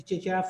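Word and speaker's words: CeceYara: can call us, the Chichiara Foundation. And God so good, things have been easier. We have an app at the Chichiara Foundation, the Chichiara app. Cheche is spelled C-E-C-E, Yara is Y-A-R-A.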